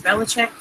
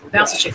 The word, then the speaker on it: Valsachek: Jeannie Valsachek, what did I say her name was? Valachek? Sorry if I got your last name wrong. Valsachek, there you go.